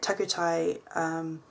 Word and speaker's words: Takutai: So on the 21st of November 2014, I went to a little event that had been organised at Takutai, that's how you pronounce it, Takutai Square in Britomart, which was held by Jamie McDell.